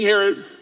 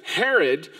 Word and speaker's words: Herod: his name yes King Herod I always feel weird as name rhymes with mine but it's true King Herod and King Herod real